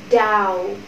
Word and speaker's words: doubt: Doubt. Doubt. Âm bờ trong trường hợp này câm. Các bạn nhé, các bạn không phát âm bờ ra.